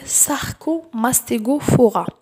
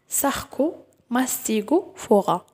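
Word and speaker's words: Sarcomastigophora: ثاني عندنا المو الاول ساركو ماستيغو فورا دوما باش تنطقوا بيان فاسيلمون اقسموه لثلاثه ساركو ماستيغو فورا ساركو ماستيغو فورا هذا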